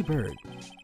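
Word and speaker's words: Byrd: Remember Maggie Bird? Maggie Bird. Ah. Maggie Bird. Is it pronounced bird, right? It's not like bride or something like that? It's bird, right?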